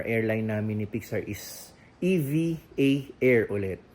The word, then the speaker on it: EVA Air: namin ni Pixar is EV. A air ulit. Yan ang tamang pronunciation na hindi Eva air, hindi Eva Air kung hindi EVA Air.